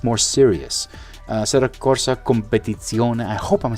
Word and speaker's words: Assetto Corsa Competizione: Assetto Corsa Competizione. I hope I'm saying that right. Federico will kill me. He tried to get me to pronounce it correctly. So it's Assetto Corsa Competizione.